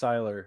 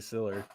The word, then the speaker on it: Siller: and we definitely don't know it's pronounced Siler. It's definitely Siller.